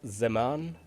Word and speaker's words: Zaman: what to do and I believe we pronounce this day as Zaman okay yeah today Zaman